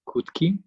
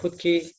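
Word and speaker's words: Khutkyi: thank you david yes i'm hootkie so the key is silent but i'm not so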